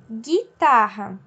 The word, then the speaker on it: guitarra: separado então olha só guitarra da palavra guitarra eu não consigo ouvir huggo e nem água eu só ouço um só o único né o gui então um ele não é